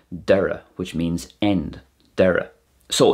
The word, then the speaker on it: deireadh: thosaigh tháinig & thart the closest we have is a D sound as in the Irish word Deireadh which means end deireadh